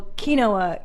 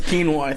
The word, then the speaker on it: quinoa: Number one, we call we don't call Kinoa Kinoa. We call it Quinnow. Quinn, as Joey Diaz pronounces it in our home. Quinnow. Am I saying it right? I don't know what the I don't even know. It's quinoa. Quinoa.